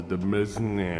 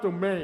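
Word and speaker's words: demesne: prepared to assault the dem of his forefathers. Oh, wait. That's pronounced domain.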